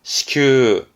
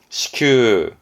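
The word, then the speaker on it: 支給: 발음은 시큐, 시큐, 지급하다, 시큐스를 하죠.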